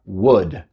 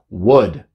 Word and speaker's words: would: the world aunque se escribe w ld se pronuncia world la eles buda es un poco raro pero así se pronuncia world y para que usamos world world es para